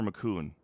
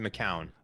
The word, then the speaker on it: McCown: So is it McCown or McCoon? I've pronounced it McCown.